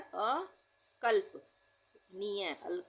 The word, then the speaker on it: अकल्पनीय: आ गया होगा स्वार्थी अकल्पनीय आधे ल का उच्चारण हो रहा है अ कल्प निय अकल्पनीय अज्ञानता बहुत आसान हैय